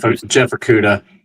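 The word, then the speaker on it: Okudah: Is that how you pronounce his last name? Jeff Okuda.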